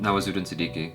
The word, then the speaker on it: Nawazuddin Siddiqui: Nawazuddin Siddiqui.